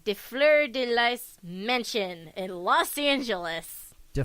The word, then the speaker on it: Lys: No, that's Lis.